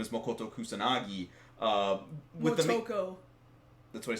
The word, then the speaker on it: Motoko: Motoko. That's what I said. No, you said Makoto. See, this is now you got me. I know how to say it. Now you got me saying it. Motoko.